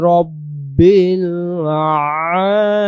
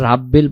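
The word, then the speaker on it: رَبِّ: আমরা ক্লিয়ার করি আলহামদুলিল্লাহি রাব্বিল আলামিন আলহামদুলিল্লাহি রাব্বিল আলামিন কেউ আমরা রাব্বিল পড়ি রাব্বিল পড়বো না আমরা উচ্চারণ করবো রব্বিল রব্বিল রব্বিল পরের আয়াত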